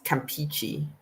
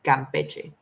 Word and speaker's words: Campeche: So I've heard it read as Campeche, but that's not it. It's Campeche.